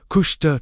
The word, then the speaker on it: Kushta: KUSHTA, pronounced KUSHTA, truth, reality, divine truth.